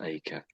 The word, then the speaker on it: acre: I know I know the R and the E are the wrong way round you might say but that's how it's pronounced acre.